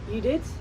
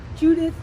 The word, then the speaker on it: Judith: So, well, in Dutch we would probably say Judith, okay. Judith, but Judith is the English pronunciation.